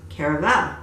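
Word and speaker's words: Caraval: And I also have, and I found out that it is pronounced caravel.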